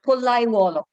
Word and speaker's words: Pollaiuolo: So this is an approximate, because it's not possible to do a perfect sound in Hindi. Pollai. Sort of an oo sound. So Pollaiuolo. Okay, that would be how it's pronounced.